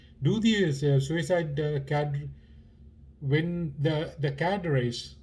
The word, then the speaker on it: cadres: these suicide when the cadres, it's often pronounced as cadres in both in Sri Lanka and India. I don't know why I checked. It's cadres. It's a French term, meaning you know what it means.